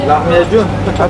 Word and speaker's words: Lahmacun: Lahmacun. How do you say it? Lahmacun? Lahmacun.